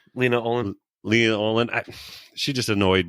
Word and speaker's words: Lena Olin: They were just reading lines over the person, like Leanna Olin. Is that how you say her name? Lena Olin.